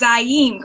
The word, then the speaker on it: ZYEM: Before we get into the ins and outs of your product line, and correct me, it's ZYEM, correct?